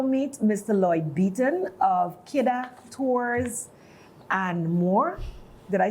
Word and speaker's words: Kidda: Lloyd Beaton of Kidda Tours and More.